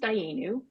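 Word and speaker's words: Dayenu: It's pronounced Dayanu, and Dayanu is a new Jewish organization.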